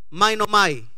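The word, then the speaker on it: μαίνομαι: Esa palabra se escribe, se pronuncia mainomai.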